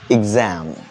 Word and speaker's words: exam: E കൊണ്ട് തുടങ്ങുന്ന എല്ലാം തന്നെ പലപ്പോഴും പല വാക്കുകളും നമ്മൾ എ എന്നാണ് പ്രൊനൗൺസ് ചെയ്യാറ്. ഫോർ എക്സാമ്പിൾ എക്സാം നമ്മൾ പറയാറ് അല്ലേ? That's A mistake.